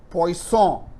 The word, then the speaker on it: Poisson: see the name here poisson right the n is poison so this is a french origin name so the scientist poisson studied this and then